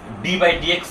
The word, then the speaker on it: d/dx: এটা দেখলেই আমরা বুঝতে পারবো এখানে অন্তরীকরণের কথা বলা হয়েছে এবং এটার উচ্চারণটা আমরা লব এবং হর আকারে এখানে দেখতে পাইলেও আমরা এই d/dx না বলে এটাকে আমরা বলবো একেবারে ddx বলবো।